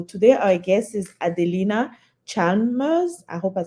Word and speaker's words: Chalmers: Yeah, the L is silent, so it always trips people up. It's Chalmers.